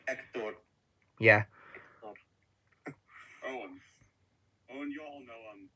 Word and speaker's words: Hector: I pronounced his first name as Hector, not Hector, because in Spain H is silent in stuff.